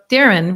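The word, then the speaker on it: Deron: the iran so that's spelled to d e r o n but it's actually darren but it's okay oh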